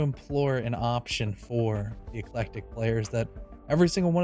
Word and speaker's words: ECLECTIQ: point but they qualified no it's eclectic these guys z duke